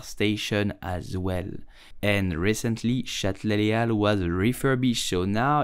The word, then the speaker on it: Châtelet-les-Halles: You will simply say Châtelet-les-Halles. Châtelet-les-Halles. Châtelet-les-Halles. In French, the H is totally silent and the S of Al is also silent.